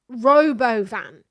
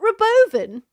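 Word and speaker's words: Robovan: Robo van. It's not Robovven. It's Robo Van. stop trying to convince us that the name of it even was intelligent in any way. The Robo Van.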